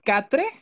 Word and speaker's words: quatre: Háganme cuenta que van a decir quatre del español, ¿sí? Quatre, pero con acento francés, sin pronunciar la última E y con acento francés, la R.